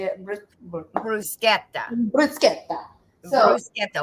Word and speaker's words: bruschetta: Bruschetta. Bruschetta. So, bruschetta. Oh, very good, Megan. I like that. You rolled the R in there. That sounded nice.